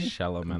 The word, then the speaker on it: Chalamet: Chalamet. Shyamalan. That was a weird way of saying his name. It was the wrong way of saying It was. his name, but It is Timothy Chalamet. Timothy Chalamet? Chalamet.